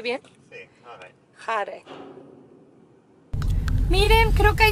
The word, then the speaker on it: Hareid: ¿Lo pronuncié bien? Sí, Hareid.